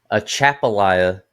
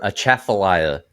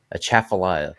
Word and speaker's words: Atchafalaya: So, the uh A Chapalia River. A Chaffalia River. I' I've been saying it wrong. I've been saying it wrong in the video. A Chaffalia.